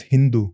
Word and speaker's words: Hindu: As I said, Sindhu becomes Hindu. Mm. The name comes from Persia, yeah, because the river Sindhu, they could not pronounce the S, so they changed it to H.